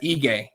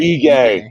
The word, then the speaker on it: Ige: Ige. I knew it was. I knew it was something weird that wasn't like. There's no way. Yeah, right. That's right. It doesn't. It's not pronounced how it looks.